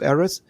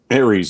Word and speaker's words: Ares: talk later however you start with ashes of errors uh ares now i always pronounce the wrong ashes of ares right here ares yes the god of war aries so at